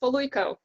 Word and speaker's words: Poluyko: My very special guest today is Margarita Poluyko. Did I get that right? Almost. Poluyko.